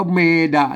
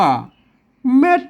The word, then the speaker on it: เม็ด: แม่ ด่า นะ ครับ ไม่ ใช่ ว่า อ่าน ว่า เมย์ ด่า นะ ครับ มา ท่าน ต้อง ฮู้ ว่า อ่า อัน นี้ มัน คือ ไม่ เก๋ นะ ครับ อัน นี้ มัน ตัว มาก นะ ครับ อัน นี้ จด ได้ นะ ครับ ไม่ กล้า แหม ต้อง อ่าน ตาม หลัก ภาษา และ งาน นะ อ่าน ว่า เม็ด นะ ครับ มา มัน มา จาก